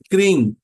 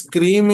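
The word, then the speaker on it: क्रीं: क्रीम pronounce is different यहां पर आपको क्रीम उच्चारण नहीं करना जैसे लगेगा कि आप क्रंग उच्चारण कर रहे हैं थोड़ा सा न थोड़ा सा म लेकिन ये इसमें न या म का प्रोनाउंस आपको सुनाई नहीं देगा एक वाइब्रेशन जैसा आपको लगेगा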